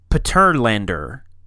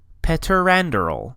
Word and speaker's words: Peteranderl: So, the E is pronounced as in Faye, but avoid it gliding off into an I sound at the end. So, and. Peteranderl.